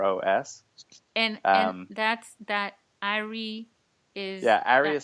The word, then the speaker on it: Aris: and and that's that Arie is yeah AR is spelled AIS s and the S is silent so that's kind of